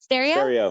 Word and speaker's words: Sterio: do I say Sterio? Sterio? How do you say? That's correct. Sterio? Excellent. Pronounced just like stereo system, but spelled with an I-O rather than an E-O at the end.